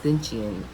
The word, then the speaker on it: XXXTentacion: I don't know if you guys know who Triple X Stinchian, how you say his name? I just call him Triple X. XXX Tentacion. I'ma spell it. XXXTENTACION.